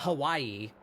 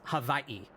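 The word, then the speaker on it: Hawaiʻi: So firstly they they they pronounce W's like V's. So it's is that it's not Hawaii, it's havi.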